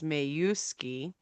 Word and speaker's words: Majewski: Majewski, or as J.R. says, it's supposed to be pronounced is Mayuski. Nobody And cares. nobody cares. It's Majewski.